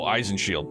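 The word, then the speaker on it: Eisenschild: Eisenchild. They're a top tier Jäger corps comprised mostly of former military and based in the free cities. Child is pronounced like shield. Oh, Eisenhield.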